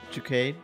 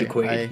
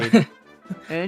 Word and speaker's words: Jaquade: Delighted, Jacade. Sorry, Jaquade. Yeah, no problem. Jaquade.